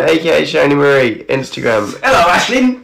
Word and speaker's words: Aisling: My name is pronounced Ashlyn. I'm sorry, Ashlyn. It's Irish.